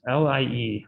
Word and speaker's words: Lie: These are called Lie groups, L-I-E, after this guy, Sophus Lie. It's pronounced Lie, not lie.